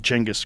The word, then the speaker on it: Genghis: it right now, so that's why I'm saying Genghis correctly. Okay, no, that's great. All right. Yeah, they even explain the note pronunciation. Here. They explain where it came from and how it got fucked up over the years of translation into languages that didn't have Cheng. They didn't have that sound.